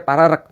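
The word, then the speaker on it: Paregreg: Paregrek. Paregrek itu bacanya pararek.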